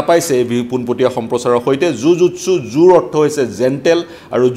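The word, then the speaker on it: jujutsu: এক ধরনের সমরকলা আর জিউ-জিতসুর কিন্তু প্রকৃত উচ্চারণ সেই সমরকলার প্রকৃত উচ্চারণ মার্শাল আর্টর প্রকৃত উচ্চারণ জিউ-জিতসু নহয় জু-জুৎসু জাপানিজ এক কলা সেলফ ডিফেন্সর জাপানিজ এক কলা এই কলাটোর প্রকৃত নামটো হৈছে জু-জুৎসু জে-ইউ-জে-ইউ-টি-এস-ইউ জু-জুৎসু মোর ভিজুয়াল সমূহ ইতিমধ্যেই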